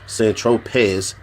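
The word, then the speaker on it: Saint-Tropez: Tropez, pronounced St. Tropez, you didn't tell Mr.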